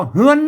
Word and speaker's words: เรือน: เ แล้ว นะ ฮู้ ว่า ไอ้ ตัว ระะ นี่ มัน เปิด ออก เสียง ฮอ นะ ก็ เฮา ไป ดู ตัว ของ เฮา แล้ว เๆ อัน นี้ ๆ ๆ ๆ ๆ เปิด ออก ว่า เฮือน นะ ก็ เฮือน น่ะ ไม่ ใช่ เรือน นะ ครับ ไม่ ใช่